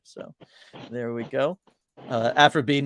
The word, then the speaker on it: Aphra: given name so Aphra it is spelled a p h r a that is how I spelled afro just like afrobe or Dr AF for the Star Wars character the two people she's